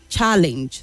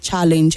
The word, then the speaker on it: challenge: say it is eliminate challenge the stress is also in the second and not the first Challenge and not challenge addressing not addressing addressing